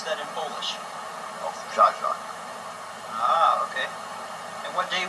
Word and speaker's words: Owczarzak: Owczarzak. And how do you pronounce that in Polish? Owczarzak.